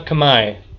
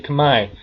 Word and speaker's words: Khmer: Most people say Khmer because it says Khmer, but Khmer is actually Khmer because French and logic don't get along sometimes when it comes to, well, they just like to add letters they don't pronounce.